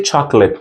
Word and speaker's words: chocolate: We say chocolate. We're not pronounced like a chocolate. Chocolate. Chocolate. Very simple. We're not pronounced like a chocolate because the letter O is silent.